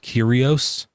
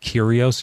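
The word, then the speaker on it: κύριος: Did you know that the Greek word that they use for Lord there is uh is pronounced curios? It's got a weird spelling was pronounced curios.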